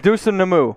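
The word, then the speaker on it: Dosunmu: dosun namu that the last name was close deuce and namu it's not a oh let's let's try that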